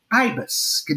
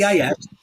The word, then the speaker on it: Ibis: I played at a place called Ibis. Does this go across? Yes. IBIS.